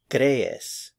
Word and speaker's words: crees: Crees, crees. It's two syllables, cre and es, crees.